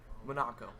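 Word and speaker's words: Munaco: Monaco. Monaco. Like Monaco, but with some letters switched around.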